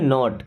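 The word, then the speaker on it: knee: के N double E नी इसे क्या पढ़ते हैं? नी के साइलेंट होता है। नी का मतलब होता है घुटना। ठीक है? यानी कि के बाद अगर ने एन आता है तो वहां पे साइलेंट हो जाता है।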